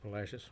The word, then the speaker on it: Palacios: palacios but it's pronounced palacios which kind of sounds like fascists to me i don't know rhymes with it but there might not